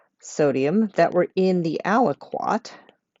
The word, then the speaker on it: aliquot: that were in the aliquot which is just a word i like rhymes with kumquat over liters of the